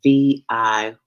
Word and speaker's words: Viata: And that's spelled Viyahta.